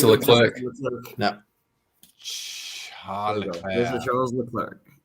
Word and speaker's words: Leclerc: in clubhouse, said, well, they call him Charles Leclerc. So that's what I call him now. Correct. And it rolls off the tongue so much nicer anyway. And it's a correct pronunciation, I would say, since he's from Monaco. So it would be more French-based.